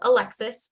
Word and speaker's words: Alexis: is Alexi my name is actually spelled Alexis but it's pronounced Alexi so I always spell